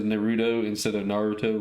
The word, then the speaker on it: Naruto: He's like, yeah, Naruto.